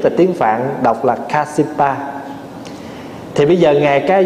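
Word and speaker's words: Kāśyapa: Phá Hòa nói ví dụ như ngài Ca Diếp, Ca Diếp là tiếng Phạn đọc là Kasipa.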